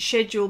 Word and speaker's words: schedule: a day ok now I've just said schedule because well I pronounced it schedule but I've been pulled up and that's not how you pronounce schedule its schedule I I can't say shed schedule I know I say it but I can't it doesn't come easily to me as it does schedule anyway what is your